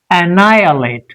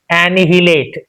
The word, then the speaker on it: annihilate: Now we have to stress on this na sound then it will become clear annihilate but how is it pronounced actually anihilate h sound that h sound is not present in this.